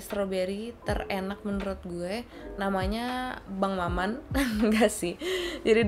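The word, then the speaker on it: Bonne Maman: terenak menurut gue namanya bangmaman nah ngasih jadi dia bahasa Perancis gitu namanya bom mamong gitu bacanya tapi gue bacanya sama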